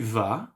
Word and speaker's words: vas: Because tu vas, I pronounce it like va, and il, elle, on, va. I pronounce it as va as well. So, but the spelling is different.